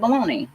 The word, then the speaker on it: bologna: look like balogna but it looks like bologna and we pronounce it baloney oh we did not